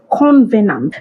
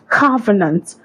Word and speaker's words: covenant: You say convenant. There is absolutely no con in that word.